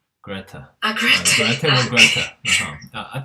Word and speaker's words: Grete: Now Gregor's sister, I think rather than Grit, I think you pronounce Grete. Greta.